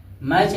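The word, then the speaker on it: match: मैच लिखा है तो टी साइलेंट हो जाएगा, यम ए सी एच यानी मैच, मैच और टी का हो जाए साइलेंट हो।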